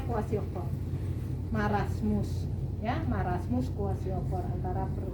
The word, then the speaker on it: kwashiorkor: Marasmus, kwashiorkor, tulisannya KW kwashiorkor. Susah banget tulisannya. Ya, bacanya kwashiorkor.